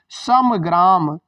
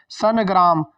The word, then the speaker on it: संग्राम: सही हो रहा है संग्राम में सम ग्राम सम ग्राम और हम सभी बच्चे क्या करते हैं संग्राम लिखा संग तो न का उच्चारण करके ना देख लिए जैसे यहां लगाया गया है तो न का उच्चारण करके लगाया गया है सन ग्राम संग ग्राम संग ग्राम य सब गलत ऑप्शन इसलिए दिए जाते हैं